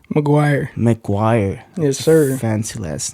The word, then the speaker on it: McGuire: how do you say your last name Maguire McGuire yes sir fancy last name if you ask